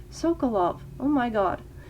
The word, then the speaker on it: Sokolov: The only obvious downside of I'm saying his name wrong. Sokolov. Oh my god. Sokolov.